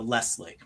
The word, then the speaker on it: Leslie: I pronounce it with an S more than a Z, so Leslie.